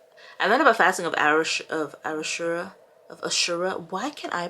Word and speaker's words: Ashura: Also, today is the day of why can't I pronounce it? I'm about to say Arafat, but it's not Arafat. Ashura. I like literally said it. Ashura.